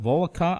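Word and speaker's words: Volokh: pull this up his name is Eugene Bull volcom I'm not sure how to say his last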